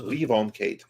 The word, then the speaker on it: Levon Cade: Did I pronounce that correctly? I've only seen it written. Yeah, Levon Cade is the Levon Cade.